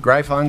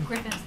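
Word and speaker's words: Gryphon: and uh Dr Cavita Berger scientist is it grion scientific did I pronounce that correctly Griffin Griffin scientific very good well I'm learning uh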